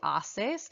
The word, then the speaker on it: asses: off and disc Italy please watch your pronunciation on this word it is the off and in the plural that is the haces it is by far